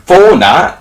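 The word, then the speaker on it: Fornah: to join portsmouth on a free transfer tyrese fauna is that's how you say his name he's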